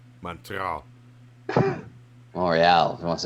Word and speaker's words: Montreal: Montreal. Montreal. If you want to say it right. Yeah, T silent.